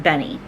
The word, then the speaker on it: Benne: had these Benny Wafers b n NE e and I think they're pronounced Benny um at any rate